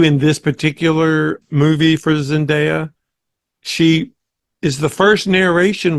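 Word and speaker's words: Zendaya: Zenda who I thought I always said zindia until I saw the Oscars the other night and they pronounced it Zinda okay plays CH she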